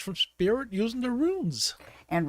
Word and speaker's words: runes: speak Spirit using the runes and runes is spelled r u n s it rhymes with tunes and it's spelled like